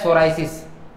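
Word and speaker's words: psoriasis: अब है स्पोरेसिस, दूसरी कंडीशन है स्पोरेसिस, साइरोसिस, सॉरी ये क्या है, सोराइसिस। सोराइसिस क्या होता है, इसमें पी साइलेंट रहता है।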